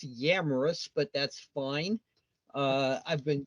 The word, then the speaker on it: Yamrus: As usual, people butchered my name. It's Yamrus, but that's fine.